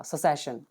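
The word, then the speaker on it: cessation: इसका प्रोनाउंसिएशन हम स से निकालते हैं, स फिर स को एक ही मात्रा, सेसेशन। ठीक है, लिख देता हूँ मैं यहाँ पे, फिर श और फिर न, सेसेशन।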